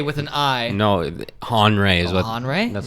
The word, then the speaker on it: Henri: by a big broly dude named andre no henry with an eye no han ray is conrad that's how you pronounce it yeah what i say mm-hmm it's